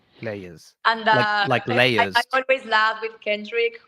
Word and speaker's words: Layes: Lees. I mean, in Argentina they say Lees, but it's the only country I say Lees, but then it's like Lees. Leers.